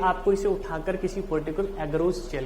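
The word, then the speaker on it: agarose: बेटा रखेंगे, क्या लेंगे, एगरोस jail, एगरोस jail. Spelling को जरूर देख लें, एगारोस बोलते हैं, वैसे लोग बोलते हैं इसको एगरोस, तो एगरोस गलत है, एगारोस बोलना चाहिए, एगारोस जेल।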